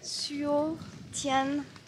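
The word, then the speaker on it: Suối Tiên: Encore un temple qui s'appelle Suo Tien Temple.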